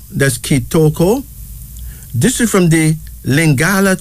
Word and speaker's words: Kitoko: unisex name that means Grace here's another one kitoko ketoko k i t o k o That's kitoko this is from the lingala tribe of Zaire